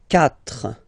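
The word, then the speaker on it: quatre: 4, 4, okay? So remember that even if you get this U vowel here, basically you don't pronounce it, because that's the rule in French.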